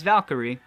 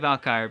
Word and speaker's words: Valkyrie: vaca crusade uh where I say that name wrong I think about mm yeah that's wrong it's Valkyrie but I save alkire because that's how I've said it since the first time I read it and then I just